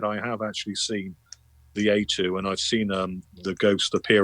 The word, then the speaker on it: aitu: That's AITU, I believe it is. AYTU. A2, it's pronounced, and that's what a Polynesian ghost is known as.